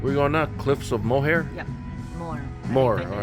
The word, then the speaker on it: Moher: I'm not sure how you say it. Moher. Moher. Like Moher. her.